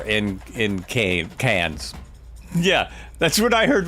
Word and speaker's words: Cairns: Just don't pronounce the R in cans. Yeah, that's what I heard before. Not Cairns, cans.